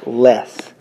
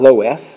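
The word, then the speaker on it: loess: Brown top soil called less less is not spelled like the opposite of more there's no in there but that's how it's pronounced it is not low s if you say that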